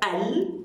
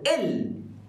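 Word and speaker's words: ال: That can be considered as or can be pronounced as al or il.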